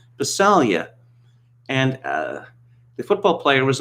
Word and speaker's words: Passaglia: louis passaglia and he kept calling him louis passalia and he did it about three or four times before he said look it's passaglia not visalia and brian hall said it's an italian name it's pronounced basalia and the football player was almost beside himself